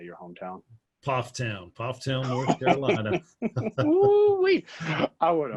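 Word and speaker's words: Pfafftown: Pofftown, North Carolina.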